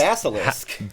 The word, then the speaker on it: Basilisk: How do you pronounce it? Basilisk.